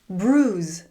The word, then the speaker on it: bruise: Bruise.